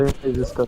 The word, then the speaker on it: disaster: disaster. তো এটা হচ্ছে ডিজাস্টার নট ডিজাস্টার। এই কারণে উচ্চারণটা শুনবেন, শুনে বারবার উচ্চারণ করবেন এবং মাথায় রাখবেন এই তিনটা ভুল হয়।